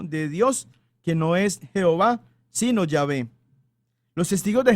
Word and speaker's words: Jehová: él en los 39 libros de esta biblia jehová como el nombre de dios ya ve que es la pronunciación correcta del santo tetra grama o del